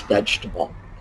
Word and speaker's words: vegetable: knows this word it's vegetable we do not pronounce that little syllable veg vegetable same thing with comfortable not how we pronounce it interesting no vegetable no we drop syllables and in fact interestingly